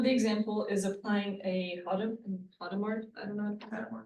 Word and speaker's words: Hadamard: One of the example is applying a Hadamard, I don't know. Adamard, he's a French, H is silent, but I okay.